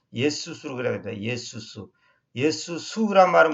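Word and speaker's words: Ἰησοῦς: 근데 원래 헬라어로는 여기가 우리 보통 영어에서는 지저스, 근데 지저스는 원래 틀린 발음입니다. 예수수로 그래야 됩니다.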